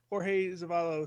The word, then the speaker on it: Jorge Zavalos: No, I really had trouble pronouncing his name in period, but I like Jorge Zavalos sounds about right. Okay, well, it is right.